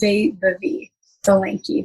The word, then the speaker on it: Vaibhavi Solanki: Before I keep going, do you mind pronouncing your name the proper way? Yeah, so the proper way is Vaibhavi Solanki, but you were very close and it was a great effort.